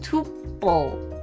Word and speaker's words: tuple: Because apparently it's pronounced tuple. But like it sounds like the tuper steak.